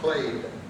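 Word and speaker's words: plaid: It's spelled plat pronounced play.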